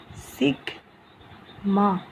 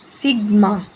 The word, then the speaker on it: sigma: Okay, its pronunciation is, means this is the obviously spelling, and its pronunciation will be like this, sigma. Okay, this will be its pronunciation, it's sigma.